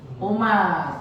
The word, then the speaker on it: عمر: Amro. Bukan, yang betul Umar. Kenapa Umar nggak ada wawunya Pak Sutoro? Kalau nggak ada wawunya dibacanya apa? Umar.